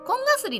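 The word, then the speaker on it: 紺絣: コンガスリですね。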